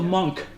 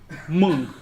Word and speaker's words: Meng: Not monk. Meng.